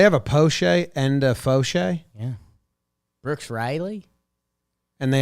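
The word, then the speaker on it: Faucher: named Calvin Falker okay oh it's not Calvin it's Calvin Foshay okay Calvin the second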